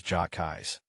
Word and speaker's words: hotcakes: Some people even pronounce it as jais.